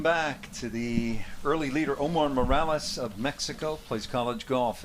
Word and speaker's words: Omar Morales: Gracias con Omar Morales.